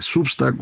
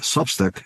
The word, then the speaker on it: Substack: ya sea el de Substack o el de Patreon, que ya sabe usted se pronuncian Substack y Patreon, pero todos los conocemos como Substack y Patreon.